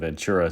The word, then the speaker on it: Ventura: By the way, one of my viewers is going to kind of poo-poo my pronunciation of Ventura, so I'll say it correctly, Ventura, just for that particular individual.